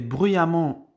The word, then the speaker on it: bruyamment: fait attention à la prononciation car récemment et bruyamment on les prononce de la même manière mais l'orthographe est